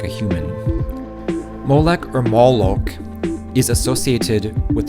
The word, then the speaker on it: Molech: the hebrew word malek used in the old testament is pronounced molek just like the english or at least very similar strong's definitions says this